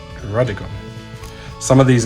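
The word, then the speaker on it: Druddigon: Definitely not Drugdigon, it's Drudigon.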